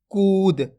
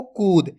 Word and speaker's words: कूद: आप कुद पढ़ोगे तो इस प्रकार से छोट उ की मात्रा का उच्चारण हो जाएगा जबकि बड़ उ की मात्रा पढ़ रहे तो खींच के पढ़ेंगे एक बार फिर से